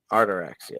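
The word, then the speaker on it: Ataraxia: Yeah, it says Artaxia, the Artaxia. Artaraxia. That's how you pronounce it.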